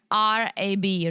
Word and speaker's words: Rab: Spell it. R-A-B, Rab.